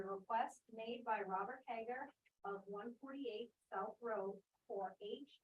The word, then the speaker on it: Hager: here to talk with Mr Robert haggar I think I'd pronounced that correct Hager okay that's better um about a special